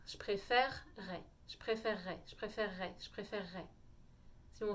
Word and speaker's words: préférerais: ça qu'on le dit donc si vous voulez vous entraîner à le dire rapidement ça suppose que vous sachiez faire un air france est donc bien au fond de la gorge rares et de faire un double r comme en double r je préfère ray je